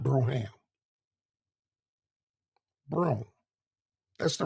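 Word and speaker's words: Brougham: Oldsmobile is the broom some people call it broham but the right pronunciation is Brown not broham broom that's the right pronunciation it's spelled b-r -a-h-a-m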